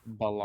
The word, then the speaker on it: Belair: So, Belair, how do you pronounce that name? Balar.